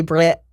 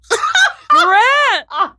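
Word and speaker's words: Brecht: But Oh, um, hey Brett. Britt. Well, it's B R E C H T. Britt.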